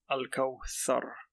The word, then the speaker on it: الكوثر: So to pronounce the thar, you would put your tongue under your top teeth. So Al-Kawthar.